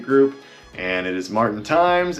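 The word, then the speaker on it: Tijmes: and it is Martin Times. And yes, there is a J in my last name, T-I-J-M-E-S, but it is pronounced Times.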